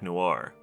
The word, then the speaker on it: Noir: that's Toby singing also I didn't know Noir wasn't two syllables so the song is